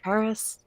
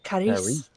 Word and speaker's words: Charis: I pronounce it Charis. Charis. Charis? Yeah. Charis is another. Charis are a couple 60. more. What? And there is the French pronunciation of your name, which is Caris.